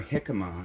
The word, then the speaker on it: jicama: So you just first start by peeling your jicama, and it's Jicama, jicama. That's how it's pronounced.